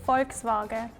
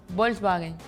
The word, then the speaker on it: Volkswagen: forks no we don't Volkswagen yeah the K and S is kind of missing yeah because I'm from the canari islands we usually miss the s's for example to say thank you we say Gracia but in the main is graas and the V kind of becomes almost like a b sound right yeah V